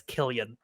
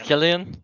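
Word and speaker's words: Cillian: let's let's hear it is it celan or kilan I to C so I feel like it should be cilian Murphy you know do you not have a conclusive answer yet it's Kian it's a 30 it's a 40 second video on how to how to uh pronounce kilan Murphy's name I had to skip so according to this video it's kilan so there you go Killian all right there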